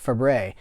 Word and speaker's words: Fabares: by Shelley Fabares pronounced it's written Fabares but you pronounce it Fabray and she was the